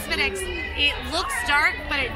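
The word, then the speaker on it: Smithwick's: It is pronounced Spinix.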